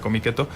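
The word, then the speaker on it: Comiket: llama cómic eto bueno se escribe con michetti por lo que entiendo que se pronuncia cómic eto y se inaugure 1.175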